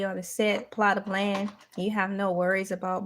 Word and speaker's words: Elay: questions my name is La pronounce that la like the city I'm not from but